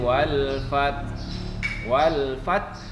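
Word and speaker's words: وَالْفَتْحِ: Idza jaa nasrullahi wal fath. Ya, jadi hanya cukup disamar-samarkan saja bacanya. Wal fath. Jadi ada keluar bunyi anginnya.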